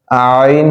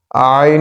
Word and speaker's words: ع: শক্ত ও স্থির থাকা আইন হরফটি পাতলা করিয়া চার আলিফ টানিয়া পড়িতে হয় আইন হরফটি পাতলা করিয়া